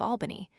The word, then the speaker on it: Albany: boart slash curiously enough Americans always use the broad a in the first syllable of Albany whereas English men rhyme the syllable with pal.